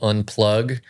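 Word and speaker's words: Unpluq: And I'm supposed to pronounce a Q as a G.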